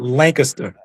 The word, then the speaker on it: Lancaster: That's how you say it, Lancaster. yeah, yeah. Anywhere else is Lancaster, but here in South Carolina is Lancaster.